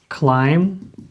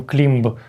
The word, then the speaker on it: climb: Clim а бачимо, що в нас тут є be на кінці, але вона не читається. Так, і ми не кажемо climб, ми кажемо clim. B не читається і up.